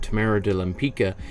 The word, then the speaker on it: Tamara de Lempicka: will see today's artist Tamara de lempica or I've heard it pronounced even though I was just watching an interview with her great granddaughter who pronounced it like that Tamara de limpica I the it was